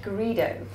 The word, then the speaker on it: Garrido: today we are joined by the lovely greo I have pronounced that correctly you have yeah that is